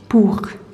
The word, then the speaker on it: pour: This is just an ou sound. Pour.